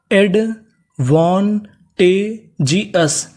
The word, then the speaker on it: एडवांटेजियस: English में कहीं पर ओ यूएस लिखा मिले तो आपको उसे क्या पढ़ना है अस तो मीनिंग क्या बन गई हमारी एडवांटेजियस एडवांटेजियस एडवांटेजियस एडवांटेजियस का मतलब होता है लाभदायक।